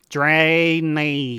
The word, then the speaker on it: Draenei: I feel like Draenei is one of the only ones where you kind of need to be let into the secret of how to actually spell it. Yeah, and that's obviously Drayknee.